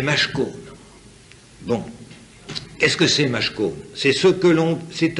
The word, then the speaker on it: mashkon: Et il y a un mot, un autre mot, mashkon, M-A-S-K-O-N. Et ça s'écrit avec les mêmes consonnes, parce que vous savez que l'araméen et l'hébreu s'écrit uniquement avec les consonnes.